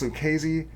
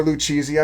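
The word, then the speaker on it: Lucchese: It's pronounced Lucesy or Luchi. I mean, I don't really care. I'm not a stickler. You can you can say however you want.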